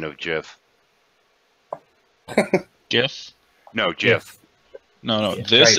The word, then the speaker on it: GIF: GIF is pronounced with a J.